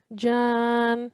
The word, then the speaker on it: جان: So over here, because it's a waqf, we will only pronounce the sound of noon. Jan, okay? Jan.